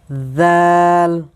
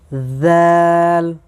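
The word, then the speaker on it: ذال: সো বন্ধুরা এই যে হরফটি দেখতে পারছেন জাল জাল। এ হরফটি উচ্চারণ হবে জিহ্বার আগা সামনের উপরের দুই দাঁতের আগার সঙ্গে লাগিয়ে উচ্চারণ করতে হয়।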